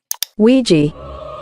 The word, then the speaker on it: Ouija: expert to give us the proper pronunciation of this word that Ouiji Ouija Ouija boys ladies and gentlemen